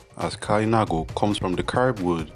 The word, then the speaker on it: Kalinago: know first what is a kainago the word pronounced as kainago comes from the curb word derived from kalinden